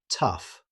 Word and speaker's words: tough: Despite sharing the same letters, it's pronounced tough.